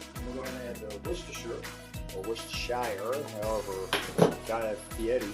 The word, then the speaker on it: Worcestershire: Oh yeah, definitely gonna use some Worcestershire.